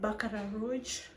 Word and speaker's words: Baccarat Rouge: This is a dupe of the Baccarat Rouge.